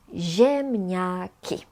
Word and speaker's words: ziemniaki: Z and I together is pronounced as zi. Zi. Ziemniaki.